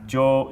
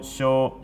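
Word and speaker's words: 上: You can pronounce jo, sho, shan, ue, wa, a, as in agaru, ageru, noboru, as in to climb, nobo, and yosu, I think it's yosu. Anyway, kanji shape's really simple.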